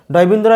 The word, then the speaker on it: ড়: হ এর সঙ্গে অধ্বনি যুক্ত হয়, এর উচ্চারণ হবে হ, ডয়বিন্দু র সঠিক উচ্চারণ হবে রা রা, অর্থাৎ এই ডয়বিন্দু র উচ্চারণ করতে গেলে আমাদের জিহ্বার অগ্রভাগ উল্টে গিয়ে আমাদের মূর্ধাকে স্পর্শ করতে হবে রা, কিন্তু আমরা এই